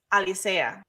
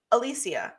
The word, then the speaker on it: Alisa: say my last name it's Alisa but like almost always people will repeat it back to me Alisia and I'm like that's clearly not what I said yeah like they're they're